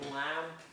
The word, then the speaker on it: lamb: So remember that the last letter of limb, that B is silent, just like in lamb or limb, that B is silent.